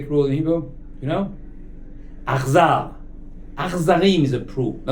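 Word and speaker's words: אכזר: Achzar. Achzarim is a cruel. Now the word achzar means only strange. Ach, not with a ches, not brother. No, ach means but.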